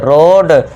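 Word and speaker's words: road: जब वर्ड में ओ ए आए तो ओ ए को ओ से साउंड देना है।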